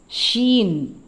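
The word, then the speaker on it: ش: light letter அதுக்கு அடுத்தது அதே அதே மாதிரி எழுதப்பட்டிருக்கும் மூணு புள்ளி இருக்கும் ஷீன் ஷீன் ஷீன் எஸ் ஹெச் இன் எழுதினா எப்படி ஷீனு வரும் இது சீன் இது ஷீன் scene ஷீன் light letters இது எல்லாமே அடுத்த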